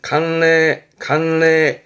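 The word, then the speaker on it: 慣例: 발음은 간례.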